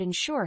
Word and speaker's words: ensure: first word is insure the word insure has two syllables with the stress on the second syllable Ure is a verb